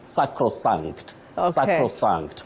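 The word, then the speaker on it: sacrosanct: you have said it it's sacran sacran and I think I have now to show our viewers the same word so that they know the way you pronounced it is the way to go so as they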